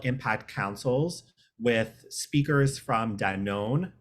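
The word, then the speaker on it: Danone: councils with speakers from Danon no that is not an incorrect pronunciation which I just learned in the last year um Danon and Pinterest joining us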